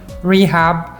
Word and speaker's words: Rehab: Rehab is a very Arabic name, so the English pronunciation is usually a little bit funny. It's Rehab. If you're unfamiliar with the Arabic language, you'll be pronouncing it this way, which is a bit funny because this is kind of my profession, which is rehabilitation.